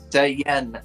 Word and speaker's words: Saiyan: Dragon Ball super Super Saiyan God s Vegeta Sayan Sayan I'm just saying man yeah that's how you pronounce it Sayan that's what I just said